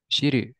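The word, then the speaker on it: 知る: How is it pronounced? Shiru.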